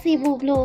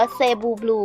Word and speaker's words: Cebu Blue: ๆ เพื่อ จะ เรียก ว่า Sea Blue ก็ ได้ หรือ ว่า เซลล์ Blue ก็ ได้ นะ คะ ถูก มั้ย คะ ครับ ใช้ ได้ ทั้ง คู่ นะ ใช้ ได้ ครับ เพราะ ว่า คน ไทย ก็ ออก เสียง อย่าง นึง ฝรั่งก ออก เสียง หรือ อย่าง นึง แต่ เป็น cebu ก็ ได้ เซบู ก็ ได้ เป็น ที่ เข้า ใจ โอเค อ่า อ่ะ ค่ะ